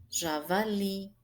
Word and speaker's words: javali: E aí nós observamos que li é mais forte.